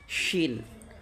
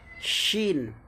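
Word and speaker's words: شين: scene এটা হচ্ছে আপনার কি সিন তারপরেরটা কি শিন সিন শিন এটা হচ্ছে বড় সিন প্রথমটা হচ্ছে ছোট সিন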